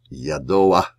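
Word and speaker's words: יָדֹעַ: Well, you surely know that by now, that the patach at the end with the guttural is pronounced not after the consonant, but just before. So, yadoa, yadati, surely I know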